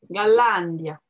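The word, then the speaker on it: Голландия: J'ai un mal fou à mettre la prononciation sur la fin. C'est mon côté latin, ça. Oui, bien sûr. Mais là, tout sur la dernière syllabe en français, c'est normal qu'au début, tu vas le faire. Mais il faut faire attention en russe.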